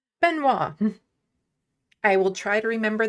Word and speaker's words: Benoit: Benoit is how you say Binot. Benoit.